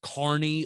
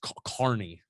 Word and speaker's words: Kearney: We drove through crappy ass Kearney leading to the turn. Don't insult our Kearney to listeners. or Kearney. Yeah, you've been calling it Kearney for all week. That's how it's spelled. It's Kearney.